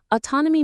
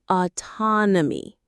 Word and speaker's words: autonomy: The stress is on the second syllable. Autonomy.